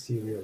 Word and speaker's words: Creal: stage so Thomas is CEO and co-founder of serial I hope I'm saying it right it is Syria right yes you'll be telling us about advances